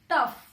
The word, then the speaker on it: turf: फिर मैंने लिखा है TURF, टफ। आर की साउंड नहीं आएगी, टफ, इसे ऐसे ही प्रोनाउंस करेंगे।